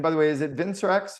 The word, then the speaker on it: Vincerx: as well and by the way is it vincx how do you pronounce vinx Pharma Vin serx VIN serx okay so before we dive in